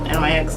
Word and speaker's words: NYX: want your but then nyx nyx i pronounce it nyx next um the micro brow